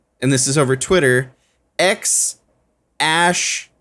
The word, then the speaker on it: X Æ A-12: this is over Twitter X ash which is the a and the e put together it's pronounced ash a twelve musk um and shirt a